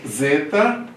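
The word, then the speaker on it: ζῆτα: O zeta, tá? Som de Z ou Z. Z ele não falou só o Z, é o Z, Z. Como se tivesse um D antes do Z. Z, Z, Z.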